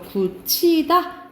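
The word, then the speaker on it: 굳히다: 자, 발음 이거는 먼저 구티다 하면서 축약 먼저 일어나거든요. 그런 다음에 구개음화가 일어나요. 그래서 구치다 이렇게 발음 나고 해도지.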